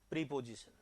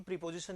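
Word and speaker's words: preposition: प्रीपोजिशन, है ना? अब ध्यान देना कि ये प्रीपोजिशन नहीं होता कभी भी, ये होता है प्रेपोजिशन। क्या होता है ये? प्रेपोजिशन।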